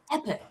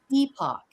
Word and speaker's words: epoch: Epic. Actually, dictionaries list two pronunciations, and you'll hear plenty of examples of both, epoch and epic.